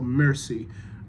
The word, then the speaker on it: merci: I'd like it to just be merci, so mercy. The emphasis is on the first syllable as opposed to merci, where the emphasis is on the second syllable.